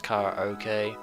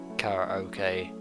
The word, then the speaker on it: karaoke: karaoke with my rain I know some people pronounce it as car okay I pronounce it either way Cara okay Cara okey several hours have passed